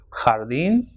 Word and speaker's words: jardín: The h sound, that is in khaki, is pronounced with ja or jo or ju, will be ha, ho, and hu. For example, jardín joven y jubilado.